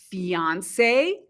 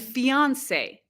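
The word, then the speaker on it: fiancé: about a woman and some native speakers will pronounce them the same fiance and fiance other native speakers will pronounce them a little bit differently for example I have a fiance I have a fiance so it just depends on the person but engaged means a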